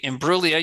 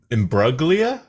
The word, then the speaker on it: Imbruglia: uh torn by Natalie Imbruglia you do not pronounce the G right correct chat or goobywood hello I think it's embroglia that doesn't sound right